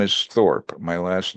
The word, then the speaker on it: Thorpe: it was in English they'll see my name and they would pronounce it torpe and in Spanish unfortunately torpe means stupid so so uh they would